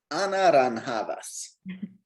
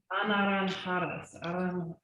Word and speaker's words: anaranjadas: las naranjas son I can never pronounce it. Anaranjadas. Anaranjadas.